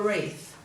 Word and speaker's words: wreath: because it's too hard once upon a time we would have pronounced that w but over time we dropped the w because it was too hard to do the what sound before the uh here for rap were wreath or um so we